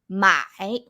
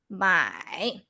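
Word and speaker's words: 买: to repeat after me my my okay so with the third tone here you have to go low so like this my my repeat after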